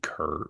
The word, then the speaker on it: Kerr: You said Steve Car instead of Kerr, which I love. Oh, Mr. Care. Steve Cares. Tim Apple came out and said, "God, Steve Kerr, whatever."